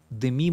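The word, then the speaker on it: Demi: жена деми мур уволен деми мур в мультике муж которого озвучивал плюс вылез заказывает убийства жены которую озвучивала деми мур деми в имени ударение на букву и они на букву е не деми деми начинается мультик про бивиса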